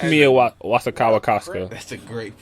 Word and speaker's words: Wasikowska: Nah, it's not an extra ska. It's Wazakowska. It's Wazakowska. Ladies and gentlemen, there's no two kakas. Kaka. Like no, it's just Wazakowska. Anyway, the bitch from Alice in Wonderland and Stoker.